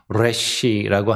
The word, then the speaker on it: resh: 영어로 하면 똑같진 않지만 우리말 발음에는 조금 없는 발음이에요 제가 엘 발음하고 알 발음이 좀 약한데 영어 할 때도 예 혀를 좀 당기면서 이렇게 좀 약간 굴러가는 그런 느낌이 조금 나는 그런 발음이거든요 그런 의미로 시작하는 단어가